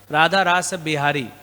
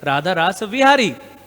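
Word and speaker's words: Radha Rasa Bihari: now what is the name of our D radhar rasa bihari actually technically word is radhar Ras vihari but because our parara is coming from Bengal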